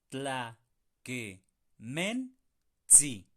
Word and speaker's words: tlakenentsi: Ojo, es T, S, I al final. ¿Por qué? Es muy fácil irnos a pronunciar sí, cuando realmente es sí. ¿De acuerdo? Se mete una T antes de esa S.